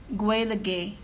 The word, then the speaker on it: Gaeilge: that's spoken in Ireland, it also has three different pronunciations based on where you live in Ireland. So in the northwest, again in Ulster, in the province of Ulster, it's Gaelic, but in the Midwest it's